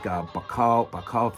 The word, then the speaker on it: Bauchau: You've got Inspector Geiger, Patrick Bauchau, that's how you say it.